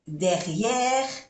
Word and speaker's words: derrière: Le jardin est derrière, no se pronuncia la E, la última E, derrière la maison.